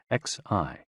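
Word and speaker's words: xi: with the spleen and x-i pronounced like she which connects the whole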